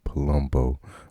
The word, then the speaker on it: Palumbo: right so today we have miss jennifer j palumbo from manhattan new york um did i say you're right did i pronounce it right you did i'm i'm you're